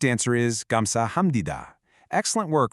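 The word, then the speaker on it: 감사합니다: The correct answer is gamsahamnida. Excellent work remembering how that P turns into an M sound.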